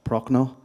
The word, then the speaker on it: Prochnau: So, next person is now you'll have to excuse my pronunciation of your surname. I I'll give it a go. Uh Prochno.